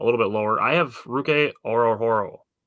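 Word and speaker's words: Ruke Orhorhoro: I have Ruke Orohoro.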